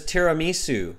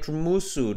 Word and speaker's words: tiramisu: So maybe your favorite dessert is tiramisu, but maybe you can't pronounce it. Maybe you're like tramusu, tramasu, tramusu, okay?